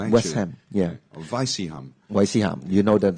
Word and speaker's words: West Ham: football clubs in England so these two words are separated so it's not wisdom it becomes West Ham West Ham yeah Vice you know